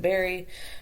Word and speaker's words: Barre: So it is spelled b a r r e, but pronounced Berry.